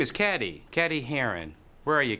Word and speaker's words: Cady: Her name is Cady. Cady Heron. Where are you, Cady? That's me. It's pronounced like Katie. Her name is Cady? It's Katie. Katie Heron.